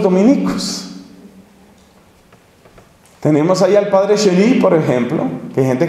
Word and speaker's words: Chenu: Tenemos ahí al padre Chély, por ejemplo, que hay gente que no lo quiere, pero entre nosotros yo creo que todos lo queremos y lo valoramos muchísimo.